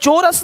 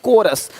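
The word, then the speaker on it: chorus: क्या पढ़ेंगे कैरेक्टर देखिए यहां पे क्या लिखा चोरस नहीं कोरस देख रहे हो शिफॉन यहां पे शिफॉन है शिफॉन कौन है?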